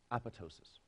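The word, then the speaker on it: apoptosis: cell death apatow --ss learned for life to pronounce this word with the second piece silent Apatow psious the hepatocyte in contrast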